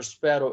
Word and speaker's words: sparrow: you can see that the sparrow the first syllable of the the word okay is or the letter sparrow is stressed sparrow now read the following